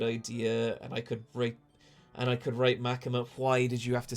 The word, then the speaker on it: Makima: I said, and I could write Machinima, chat. See, Lousy Goose. Ah, yes, Machinima. Yeah, he did for sure. Why do you keep mispronouncing Makima?